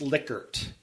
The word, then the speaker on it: Likert: the Likert scale and which everyone pronounces his name wrong pretty much I hope I got it right and saying Likert that's huh yeah but